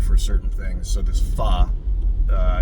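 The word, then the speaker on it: phở: I used to call it fo, but it's pronounced fa.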